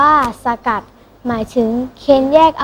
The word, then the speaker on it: สกัด: ใจ ควร รู้ ด้วย คำ ว่า สกัด อ่าน ว่า สะ กัด หมาย ถึง เคน แยก